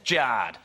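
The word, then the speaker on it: Jarred: Jared is spelled J A R R E D. Thanks, Mom and Dad. That's Jared.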